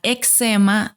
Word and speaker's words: eczema: lenguaje es la siguiente la pronunciación de la palabra eczema nos envía directamente a si la separan puede sonar como examen ex ama eczema el autor es francés